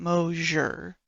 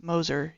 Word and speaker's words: Moser: note uh JJ Moser number 90 it's not moer it's Moser he's one of the people that signed my